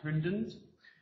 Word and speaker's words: HRDNZ: New Zealand called HRDNZ, which for those of you who don't speak Kiwi is pronounced Hundens.